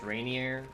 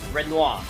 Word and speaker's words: Renoir: is the son of uh I think it's pronounced Rainineer Rain Reiner. We'll see. I'll reread the name once we actually back in the fight. Renoir.